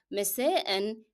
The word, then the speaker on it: مساء: مساء has to be pronounced, and صباحا as well, by the way. Both of them has to be pronounced with the tanween n. It is part of the word.